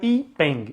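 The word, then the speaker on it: Yi Peng: E este evento, né, o que a gente chama de Festival das Lanternas, ele se chama Ipeng, Y-I-Peng, ou Y-I-E-E, depende muito de como se escreve, mas ele é o Ipeng.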